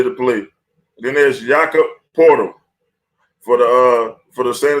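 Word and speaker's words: Poeltl: need somebody get Yakka portal it's not spelled like portal but that's what it is and of course imma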